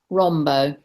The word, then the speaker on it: Rambaut: Rombaut. Rambaut. As if it's it's French originally. Beautiful. That's beautiful. And I'm sure you said Rambaut. Rambaut. It gets pronounced all sorts of ways, you can imagine. Rambo's the most common.